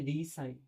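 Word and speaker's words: re-sign: जैसे देखिए तो एक होता है रिजाइन। एक होता है रिसाइन। स्पेलिंग एक जैसी है।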